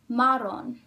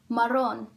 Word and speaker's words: marrón: For it to follow the rule, the word would be pronounced marrón, but the word is not, it's pronounced marrón. So there must be a written accent on the O right here.